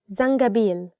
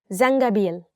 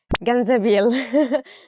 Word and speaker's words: زنجبيل: Zangabil, ginger. Zangabil, is it? Yeah, it's zangabil, ginger. And sometimes people mistake it for ganzabil.